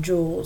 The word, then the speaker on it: joule: you say that or it's pronounced joules spell jou le now power just another